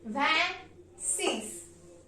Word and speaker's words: vingt-six: VES VES van means 20 and six six van six means 26 27 is pronounced in French as vet van set van